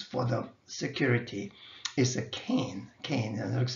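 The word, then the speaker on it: CAIN: or the requirements for the security is a cane cane it looks like this game but this is just the pronunciation-wise only so this is the um acronym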